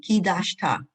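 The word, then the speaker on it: קדשת: You have to hear the ki. Ki dashta. Kidashta Good.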